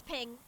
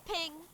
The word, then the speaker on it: PNG: I guess everyone in the world is wrong about how PNG is pronounced. It's ping. It's ping.